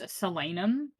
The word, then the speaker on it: Solanum: You know, the bit with Solanum. By the way, I googled it the other day and it's actually pronounced Solanum, but I think that's stupid, so I'm not gonna say it.